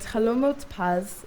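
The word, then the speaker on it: חלומות פז: And Chalomot Paz is how you say sweet dreams in Hebrew, but it actually translates directly as golden dreams. Dan halomot pas adalah cara kalian mengucapkan sweet dreams atau mimpi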